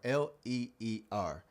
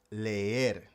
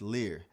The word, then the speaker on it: leer: l e eer or l eer and it should be pronounced leer leer. Now, when you look at it, you might think it says Lar, but again, it starts with le.